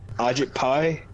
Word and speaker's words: Ajit Pai: Like, I want to say that it's all due to this administration, but Ajit Pai, is that how you say his name?